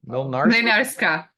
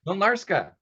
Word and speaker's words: Mlynarska: Mlynarska. Mlynarska.